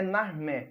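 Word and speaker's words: Narmer: desenho uma inscrição em hieróglifo de um peixe que em egípcio antigo era pronunciado na e de um cinzel que era pronunciado mer ou seja na armé essa Inscrição está inserida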